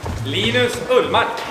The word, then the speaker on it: Linus Ullmark: Linus Ullmark, Viktor Erik Sven Gunnar Karlsson.